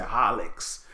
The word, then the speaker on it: Horlicks: got my Milo and Horlicks yes sir yet a leaks is HOH oh our man hor which is funny though because nobody pronounces it like that no one says Horlicks we say holux right but I hear